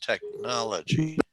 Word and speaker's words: technology: talk about this is we would say technology is a 4-2 word it has four syllables and the emphasis is on the second syllable okay so let's do